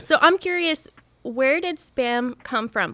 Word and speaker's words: SBÄM: How do you pronounce it? Yeah. It's SBÄM Festival.